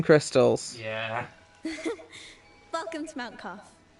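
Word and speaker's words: Qaf: Welcome to Mount Cough. It's got a Q, but it's pronounced cough.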